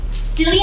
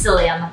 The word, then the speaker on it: psyllium: pudding and chia seeds cillian huss powder is really good for baked goods i have a few recipes xylem psyllium i like it i'm sorry it's psyllium actually that's how you say it psyllium husk bread it's